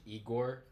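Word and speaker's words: Ihor: They always want to pronounce the H. I said, no, it's just like the Russian Igor.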